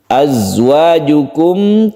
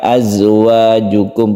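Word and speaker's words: أَزْوَاجُكُمْ: Azwajukum, kemudian di sini kadang-kadang kita mendengar orang yang membaca za itu dipantulkan azwajukum, padahal dia itu tidak memantul. Dia itu bersifat shafir yang berdesir. Azwajukum, azwajukum, jadi tidak memantul karena dia bukan qalqalah.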